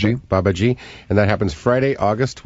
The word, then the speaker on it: Babaji: That's how I pronounce it. Babaji.